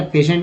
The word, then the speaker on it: patient: लेकिन स का उच्चारण देखिए TI से जो है श उच्चारण हुआ, ई से तो श हो गया। तो जाहिर सी बात है TI से जो है श उच्चारण होता ही होता है। तो हो गया पेशेंट ना।